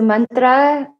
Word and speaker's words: mantra: definition of mantra so mantra is pronounced with a short a so man and not man so man and then tra and you rolled the r i mean not everybody can so you try your best to roll it and